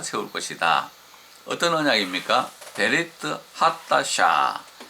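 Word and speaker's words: חדשה: 하타샤라고 하는 이는 헤트는 하타샤, 그냥 K에 가깝게. 그래서 어떤 사람 보면 카타샤라고 발음할 정도로 세게 하기 때문에 하타샤 이렇게 발음하는 게 좋겠습니다.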